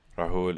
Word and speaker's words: Rahul: Rahul is correct pronunciation.